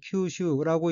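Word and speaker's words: 吸収: 둘째 줄 맨 왼쪽 어휘는 한자가 한국어로 흡수이고 마실 흡, 거듭 숫자로 되어 있고 일본어로는 큐슈라고 읽으며 큐슈는 흡수, 외부에 있는 것을 내부로 빨아들이는 것, 자기의 것으로 받아들이는 것이란 뜻의 명사 또는 수로 타동사입니다.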